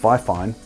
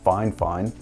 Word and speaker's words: FiFine: performing so fine fine which you would think is pronounced fifine but actually it's fine fine uh sent me the